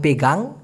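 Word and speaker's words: pegang: এইভাবে ধরাকে মালয়েশিয়ান ভাষায় বলা হয় পেগাং পে গাং এইভাবে উচ্চারণটা হবে পি জি এ এন জি পেগাং কিন্তু এই দুই ঘন্টা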